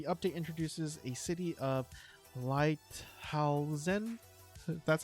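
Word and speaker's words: Lighthalzen: The update introduces a city of Lighthausen, that's how you say it, with new quests and NPCs, as well as 2 new dungeons for high-level characters.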